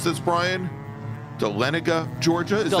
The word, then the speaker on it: Dahlonega: Will is from, how do we pronounce this, Brian? Dahlonega, Georgia? Is that correct? Dahlonega.